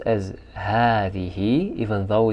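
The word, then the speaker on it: هذه: ahadi which is the feminine of hada it's pronounced as hatihi even though it's read it's written as hadi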